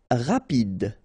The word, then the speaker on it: rapide: Rapide, final E not pronounced, so rapide, rapide.